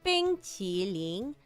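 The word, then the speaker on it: 冰淇淋: It's Bing Qi Ling. But, it's not Qi. It's not Qi, like Americans say. It's like tongue at the bottom of your teeth.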